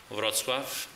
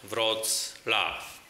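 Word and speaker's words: Wrocław: know and remember I'm the city mayor of RAV using the English proper pronunciation the city name is to be said V laugh ladies and gentlemen we'll be opening now the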